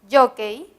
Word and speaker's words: jockey: última sílaba del cei en la palabra jockey jockey el acento se ubica en la penúltima sílaba me voy a subrayar